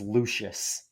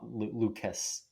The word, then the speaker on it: Lucius: The the last name is Lucius, not Lucas. Oh, it's like L U C I U. Yeah, it's spelled all it's spelled pretty funky.